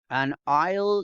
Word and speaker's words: aisle: Do you want a window seat, or an aisle seat? Notice here, in this case, you don't pronounce this. It's like a decoration.